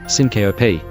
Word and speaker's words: syncope: When we cut a sound out of the middle of a word, it's called syncope, a 3-syllable word, syncope.